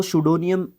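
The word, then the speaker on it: pseudonym: करते हैं तो वो सुडो नियम होता है उपनाम उनका और जब आपको पी के बाद एस देखने को मिलेगा तो पी आपका क्या रहेगा साइलेंट रहेगा भाई ओके उसके बाद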